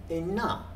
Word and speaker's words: ynna: Here we have the word it pronounced in Middle Cornish as inne, in them. And this became inna, the newer spelling.